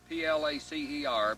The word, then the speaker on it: placer: is called plaster mining it's spelled p-l-a-c-e-r but it's pronounced p-l-a-s-s-e-r placer that means that